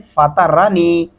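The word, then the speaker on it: فطرني: फातरानी, फाता नहीं पढ़ेंगे, त्वा लिखा हुआ है तो लिहाजा त्वा पढ़ेंगे तो उसकी मुकम्मल अदायगी होगी।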